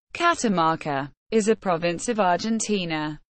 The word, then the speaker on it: Catamarca: Catamarca, Spanish pronunciation, Catamarca, is a province of Argentina, located in the northwest of the country.